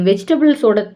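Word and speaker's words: vegetables: Next one, நீ காய்கறிகளின் தோலை உரிக்க முடியுமா, நீ வெஜிடபிள்ஸோட தோலை உரிக்க முடியுமா அப்படின்னு சொல்கிறதுக்கு கேன் you feel the வெஜிடபிள்ஸ், கேன் you feel the வெஜிடபிள்ஸ். பீல்னா தோலை உரிக்கிறது, வெஜிடபிள்ஸ் அப்படின்னு நம்ம ப்ரொனவுன்ஸ் பண்ணக்கூடாது, வெஜிடபிள்ஸ்.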